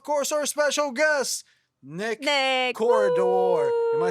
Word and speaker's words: Corredor: It's like the hallway, but it's like without an I, with the E. So corredor, yeah. Oh, Corredor. so That's you how need you the say accent. it. That's how you say it. Corredor. Corredor. Yeah. I can't roll my Hey. R's for my life, but okay. Yeah. Corredor. Corridor. Corridor. Corredor. Corridor. Yeah. Corridor is the American way, right?